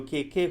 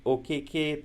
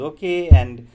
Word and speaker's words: Okeke: So where the Indians are not able to pronounce Okeke, they pronounce it as okay, or they're not able to comprehend the name Okeke, and they keep calling him okay.